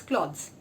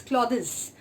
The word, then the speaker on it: cloths: form of cloth is cloths. In cloths, what happens is that it is a one syllable word, and we do not pronounce it as clothes. We pronounce it as cloths.